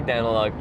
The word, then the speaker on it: Daneliuk: Because it's like, we say Daniluk, but it's spelled D-A-N-E-L-I-U-K. So it's more like Daneliuk, which just makes it obscure, which makes me very easy to find.